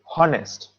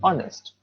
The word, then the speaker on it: honest: notice the word honest it begins with h but with h it does not have the sound h we don't say honest we say honest h is silent it's